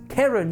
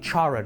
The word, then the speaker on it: Charon: The sign reads, and I believe I'm going to pronounce this correctly, Karen says 1 coin. I've been calling it Charon all this time.